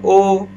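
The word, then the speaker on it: ho: یادتونه گفتم اونجا اچ تلفظ نمیشه، بی صداه. آره مثال زدم او یعنی من دارم.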